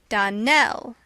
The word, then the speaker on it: Donnell: would set it right Donell Accent on the last syllable and St Clare on